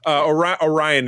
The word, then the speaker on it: Orion: Orion is the proper way to pronounce it.